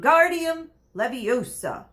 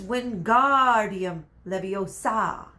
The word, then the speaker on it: Wingardium Leviosa: having much luck waiting Guardium Leviosa he shouted waving his arm like a windmill you're saying it wrong Harry heard Hermione snap its Wingardium Leviosa make the GAR nice and long will you do it